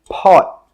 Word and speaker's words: pot: This is a pot, pot. When we say this word, we stop the air with that final T sound.